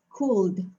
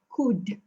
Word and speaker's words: could: student pronounce this as cold okay so this word you should not pronounce the l is silent okay so you should pronounce this pronounce this as could okay there's no l